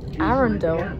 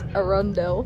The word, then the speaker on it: Arundel: we are now approaching arendelle i've been saying it wrong i thought it was a rondelle arender a recorder it